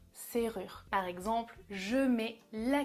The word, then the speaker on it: serrure: une serrure une serrure attention à la prononciation avec le r c'est rare serrure par exemple je mets